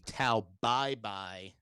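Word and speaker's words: Tao Pai Pai: flair to him and if you actually wanted to you know pronounce the uh pronounce this character's name in a more appropriate chinese way um it would be tau bye bye which is uh eventually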